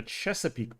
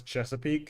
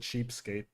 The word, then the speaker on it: Chesapeake: Oh, it's funny because when I was a kid, uh, I didn't know how to pronounce Chesapeake and I thought it said cheapkate, so I just called it cheapkate bay.